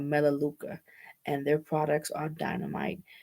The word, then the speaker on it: Melaleuca: but the name of the company is called melaleuca and their products are dynamite vegan uh plant-based